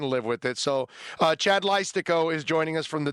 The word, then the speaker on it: Leistikow: Did I pronounce it right, Chad? Leistikow?